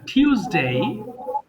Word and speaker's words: Tuesday: Saturday, আচ্ছা, Saturday, সানডে, Sunday, Monday, Monday, Monday, টিউসডে, Tuesday, টুইজ হবে না, টিউসডে, Tuesday, Tuesday, ওয়েডনেসডে, Wednesday, থার্সডে, Thursday, Thursday, Friday.